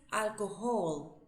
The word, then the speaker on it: alcohol: Pero nuestra H en castellano es muda. Bien. La H no suena para nosotros. En inglés sí suena y tiene un sonido similar a una J.